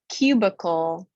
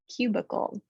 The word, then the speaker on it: cubicle: middle of the word but here's the word cubicle cubicle that i takes the schwa sound cubicle this long u in